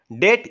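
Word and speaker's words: debt: দেখো আমি প্রশ্ন আসবো which letter of ডেট ইজ not pronounced ঠিক আছে কোন প্ল্যান এটা আনসার হয়ে যাব কৌট ডি ইট ডেট লেখা তোমার মানে কৌট মানে কোন প্রোনাউন্স নট প্রোনাউন্স কয়টা প্ল্যানে ডি ইজ বিট লেখা কয়টা হবো না আনসার হচ্ছে বি আনসার হইবো দেখো আমি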